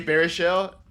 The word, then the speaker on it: Baruchel: Jay Baruchel.